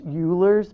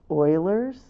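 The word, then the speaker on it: Euler: Note that it's it looks like it's Ulers, but it is pronounced Oilers.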